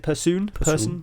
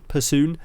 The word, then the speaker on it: Persoon: Is it Persoon? Persoon.